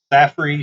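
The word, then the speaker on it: Saffir: scale the hurricane scale the staffordy simpson i'm really sure if i'm pronouncing that correct s-a-f-f-i-r saf saffrey simpson's hurricane skill uh category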